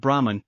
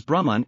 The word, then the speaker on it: Brahman: We encounter the word Brahman in this shloka, which is the concluding shloka in the second chapter of the Gita. As a side note, this word is pronounced as Brahman and not Brahman.